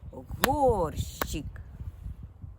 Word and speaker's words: горщик: складів давайте визначимо наголос горщик Який з цих двох складів наголошений правильно перший склад го рщик він вимовляється гучніше тепер порахуємо звуки оршчк